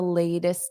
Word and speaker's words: latest: So, notice I don't really link that T to the I. You hear more of an S.